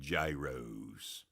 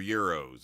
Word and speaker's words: gyros: He got one of the big gyros. I keep getting corrected from my family, but those are euros. I said, "No, they're gyros." Spell it with a G.